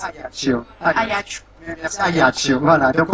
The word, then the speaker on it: Ajaccio: Alors, Ajaccio, ça se dit Ajaccio en Corse. Ajaccio.